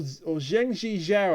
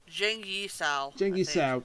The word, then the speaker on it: Zheng Yi Sao: Madam Ching, the real Madam Ching, or Zhengji Zhao, I believe her name is. I've got that wrong. Hang on a minute. I had it written down somewhere. Zheng Yi Sao. I was out by one syllable.